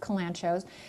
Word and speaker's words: kalanchoe: This plant is called a Kalanchoe blossfeldiana, and it is related to several other kalanchoes, also sometimes pronounced kalanchos, that make excellent succulent houseplants.